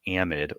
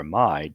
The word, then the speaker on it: amide: to be left with an amid or amide depending on how pronounce it again an amid is